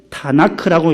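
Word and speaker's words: תנ״ך: 그래서 요 T, N, K를 따가지고 그 앞에 보조모음 A를 넣어서 타나크라고 읽어요.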